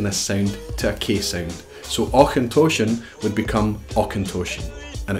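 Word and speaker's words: Auchentoshan: then not do distillery and the Scottish Highlands or contortion now or contortion is a first pronunciation we're gonna have that CH sound and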